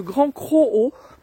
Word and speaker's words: Grand Crohot: de la plage quoi et donc c'est le grand cro ça s'écrit C r o h o T et